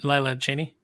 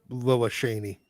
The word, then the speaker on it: Lila Cheney: yeah Laya Chen yeah that's how I always pronounce it as a kid but I guess it is just Cheney yeah it's I I just called her Lilla sheney very nice but I